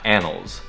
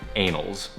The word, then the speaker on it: annals: But that word "annals," they're accidentally mispronouncing as "anals."